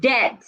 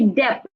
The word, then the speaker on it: debt: in words like debt the letter b and the word de is silent so I would not say dep because the B saying anything I will say de not dep rather I will say